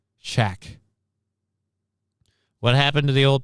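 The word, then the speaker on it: Chaac: And it's not spelled the same. It's C-H-A-A-C. Shack.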